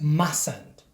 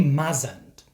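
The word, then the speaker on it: mustn't: not is pronounced as ment so the first T is silent also don't say mazant I've heard quite a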